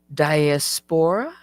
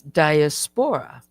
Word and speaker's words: diaspora: Here she was making a correction um the way I pronounce diaspora. I said diaspor. Okay. So she says it's diaspora, not diaspor.